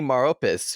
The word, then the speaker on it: Maropis: also have mortal kombat's most famous necromancer adani maropis who played quan chi in mortal kombat conquest